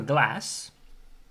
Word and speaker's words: glas: if you have a glass, cheers, single is glas, plural is glazen. So first of all, the S changes to a Z, and there's only one Z, so the pronunciation of the A becomes A. Glas becomes glazen.